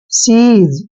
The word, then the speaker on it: seize: देखिए एस का उच्चारण हम से करते हैं और EI का उच्चारण हम ई की मात्रा करते हैं और ZE को जय पढ़ते हैं। सीज, अब सीज क्या होता है भाई?